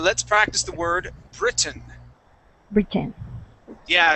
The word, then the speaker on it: Britain: Britain. Yeah. So, that accent goes at the very beginning. Britain.